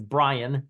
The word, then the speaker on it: Bryan: have here uh so Brian Texas not I pronounce it Bryant uh but it's Brian Texas the one next to